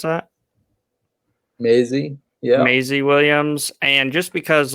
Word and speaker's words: Maisie Williams: you put down pete so arya stark aka mesa williams how do you pronounce that maisie yeah maisie williams and just because like her transformation throughout game